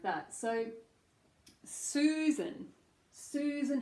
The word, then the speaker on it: Susan: Susan has oo, long vowel oo. Susan, and then short schwa, unstressed syllable second, n. So that would be written as like n.